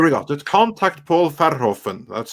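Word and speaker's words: Verhoeven: hovering ah here we go let's contact paul farhoffen that's how you pronounce it by the way he has been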